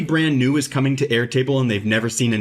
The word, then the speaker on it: Airtable: like in my case I'm saying air table all the time and a lot of the AI Bots will break it into two words but we all know